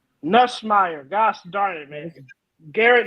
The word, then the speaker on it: Nussmeier: Say his name right. It's Nussmeier. Nussmeier.